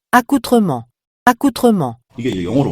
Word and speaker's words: accoutrement: 그런 의미가 accoutrement. 이게 원래 불어에서 유래한 단어라서 발음이 좀 이상해요. 원래 프랑스어였다고. accoutrement, accoutrement.